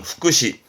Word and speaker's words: 福祉: 발음은 후쿠시, 후쿠시.